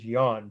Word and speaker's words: Jan: Some say Jan, but the way Europeans pronounce it is Jan, J-A-N, the first brother, and Hubert, H-U-B-E-R-T, Van Eyck.